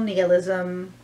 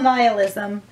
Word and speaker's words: nihilism: hello it's Cynthia from cheerful nalism or cheerful nihilism both of those pronunciations are technically correct technically correct is the